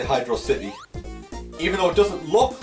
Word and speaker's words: Hydrocity: how to pronounce this is it hydrocity or hydrocity a lot of people seem to agree that it's hydrosity but some people still say hydrocity even though it doesn't